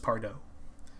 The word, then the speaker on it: Pardoe: And I may be mispronouncing that, but I believe it's pronounced Pardoe.